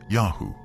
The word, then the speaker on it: Yahu: Egyptian texts say one of the places where the Shasu lived is called YHW, probably pronounced Yahu, likely the name of their patron god.